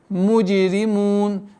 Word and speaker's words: الْمُجْرِمُونَ: Айюхаль муджримун. Здесь применяем калкаля. Муджи, иди. Айюхаль муджримун. Муджри, мягкое произношение ра.